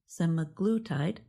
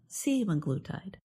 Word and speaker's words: semaglutide: Semaglutide, the drug in weight loss medications Ozempic and Wegovy, is pronounced semaglutide, not semaglutide.